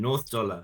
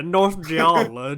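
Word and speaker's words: 전라북도: In Donzu, in North Dollar. Thank you. Yeah. My pronunciation was so bad that I wasn't gonna murder Taeyong's. Janju and North Sure, Dollar. yeah, North Jeolla, Jeonju.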